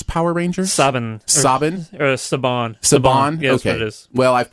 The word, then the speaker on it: Saban: be talking uh the Power Rangers movie uh sabin's Power Rangers Sabin Sabin or sabon sabon well I've pronounced it wrong everywhere that I've done done